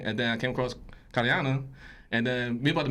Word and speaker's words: Kariana: Kariana.